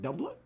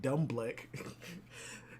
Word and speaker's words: Dumbledore: How do you say your name? Dumbledore. Why the fuck was I saying Dumbleck?